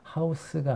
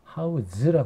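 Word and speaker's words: house: 있죠 하우지 동사로 쓰여서 그래서 발음을 하우스가 아니라 하 우즈라 고 합니다 그래서 여기서는 안정적인 뭐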